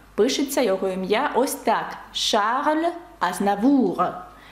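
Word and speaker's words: Charles: його ім'я Ось так Шарль Азнавур ви вже бачите тут багато правил звук ш Шарль ви бачите що с пишеться але не вимовляється і ви бачите азнавуг р наприкінці яке вимовляється це та приголосна яка вимовляє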